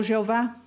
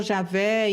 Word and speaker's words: Jeová: capítulos e tudo, então eles acrescentaram as vogais. Acrescentaram o E, o O e o A. Para podermos pronunciar, senão não poderíamos pronunciar esta palavra. Então, por isso ficou Jeová. Em outras Bíblias ficou Javé e não sei que outras coisas, mas sempre com as mesmas consoantes.